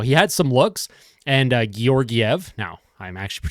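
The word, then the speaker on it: Georgiev: my video last night it's gorv not georgev or however I was pronouncing it it obviously was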